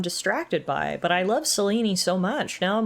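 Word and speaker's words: Selene: My apologies, goddess. I have been mispronouncing your name. I thought it was Seline. It's Seleni.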